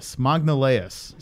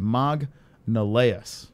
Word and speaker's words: Magalhães: Magnaleus, says Stephen Iron. So that's how you say it. Magnaleus.